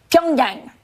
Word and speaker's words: Pyongyang: Pyongyang.